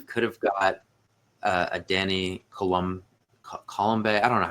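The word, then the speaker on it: Colomé: have got a Danny Colombe. I don't know how you say that dude's name. Apparently you don't pronounce the bay at the end of it. Colombe.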